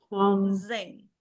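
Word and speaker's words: 三千: Kalau dia 3.000 sang sang zeng pakai Z. Sang Zeng. Sangzeng. Iya sang zeng. Benar sekali gitu.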